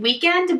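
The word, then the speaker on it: WKND: The next shade we're going to try is called Weekend, but it's spelled W-K-N-D, so an abbreviation of weekend.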